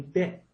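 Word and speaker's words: เด็ก: This is going to be probably deck. Now I've always said deck for child. This looks like it's dick, dick, dick.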